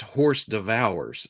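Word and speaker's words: hors d'oeuvres: It's pronounced horse devours, as in stable feeding.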